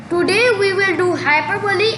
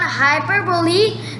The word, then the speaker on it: hyperbole: Now we will see upon hyperbole. The correct pronunciation is hyperbole.